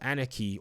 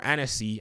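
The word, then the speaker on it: Annecy: the team at ubisoft anarchy or anisee as somebody said it's pronounced i should have known that it's a french studio they actually were the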